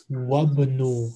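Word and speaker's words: وَابْنُ: Wa-bnu. Alif is silent when there is a word before it.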